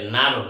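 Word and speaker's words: gnome: এন এ আর এল থেকে উচ্চারণ হবে নারুল।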